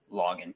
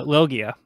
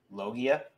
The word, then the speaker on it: Logia: We also got a little tidbit that the Rumble fruit is the most powerful login type. Did I say that right? Did I pronounce it right? So it's a Logia. Logia?